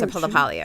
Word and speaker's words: LaPaglia: she said so are you Anthony laalia you pronounced laalia right yeah she she knew she just said